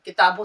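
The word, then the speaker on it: کتابیں: अगर हम सिंगल लिख रहे हैं तो किताब किताब कैसे होगा?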